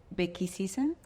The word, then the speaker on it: Bhekisisa: you're doing at, and I want to pronounce this correctly, Bhekisisa? That's excellent pronunciation.